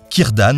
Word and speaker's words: Círdan: La traversé s’effectue depuis les Havres Gris sur des nefs fabriquées par un elfe, Círdan le Constructeur de Navires, qui comme Charon